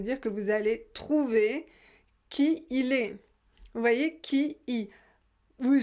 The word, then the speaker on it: qui il est: Donc prononcez bien qui il est. Pas qu'il.